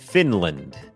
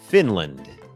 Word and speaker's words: Finland: เป็น คอร์ส ฝึก ออก เสียง ฟินแลนด์ อ่าน ว่า finland finland โอเค อัน นี้ บ่ง บอก ว่า จำ ได้ ม อัน นี้ ก็ เน้น พยางค์ ขึ้น สูง ฟิ Fin ิ พยางค์ ไม่ เน้น L finland finland เหมือน กัน ครับ ชุม ชน ครับ community